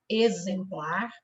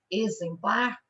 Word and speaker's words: exemplar: z quais são exame exemplar exatidão examinador tá então se vocês observarem quando nós pronunciamos as palavras né no caso essas aqui exame exemplar o X tem som de z palavrinhas em que o